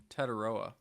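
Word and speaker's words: Tetairoa: the way, you're the you're the guy who pronounces the the names here. How do you say McMillan's first name? Teroa. Tedora.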